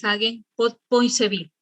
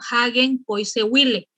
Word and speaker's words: Hagen-Poiseuille: Comenzaremos con la ley de Hagen-Poiseuille. La verdad que la pronunciación es muy distinta. Algunos lo leen en español y dicen Hagen-Poiseuille, pero yo estoy tratando de manejar un poquito el inglés.